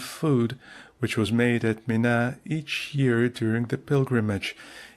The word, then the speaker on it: Mina: Footnote Mina that I is pronounced very short is a suburb of Mecca and a footnote.